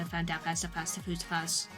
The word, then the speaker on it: Phasma: I do very much enjoy the Phasma.